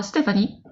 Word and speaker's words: Stéphanie: yeah and french person french person yeah steph stephanie am i pronouncing that you got a little thing over the e how is it pronounced uh stephanie okay perfect just making sure we weren't missing